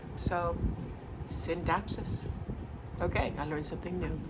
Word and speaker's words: Scindapsus: So I looked it up, and the C is silent. So Scindapsus.